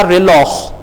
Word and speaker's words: reloj: अब देखें खे की आवाज, जे जो है यहां पे खे की आवाज दे रहा है, तो जे की दो आवाजें हैं, एक हे की है जैसा कि हमने कहा हापोनेस, और एक खे की है जैसा कि हमने कहा रिलॉह।